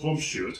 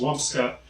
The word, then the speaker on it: Wumpscut: Yes, they are German, and if you were to follow German rules, it would be pronounced Wumpschutt. However, Rudy has said that it is pronounced Wumpscut, and since it's his project, what he says goes.